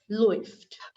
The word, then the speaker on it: läuft: Now, a umlaut with u is pronounced as oi. Therefore, this is läuft.